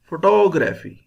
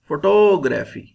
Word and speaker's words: photography: power higher sound important photography photography toe is pronounced with higher sound 4 with lower sound graphy with lower sound